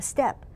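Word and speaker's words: steppe: an image of a step okay which is in Central Asia it's spelled Stepp e it's known as a step okay Argentina I forget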